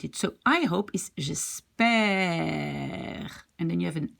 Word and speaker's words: espérer: So if you have an accent, you see, from the bottom going up, then you pronounce it like E. If it's going down like here, you call it E. You pronounce it E.